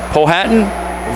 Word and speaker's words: Powhatan: Powhatan, Virginia. Let me know if that's a correct pronunciation there, Mark.